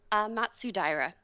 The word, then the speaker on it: Matsudaira: It's Japanese, so it sounds like sayonara. Wow. Do you want to pronounce it real quick? Matsudaira. Matsudaira, fantastic.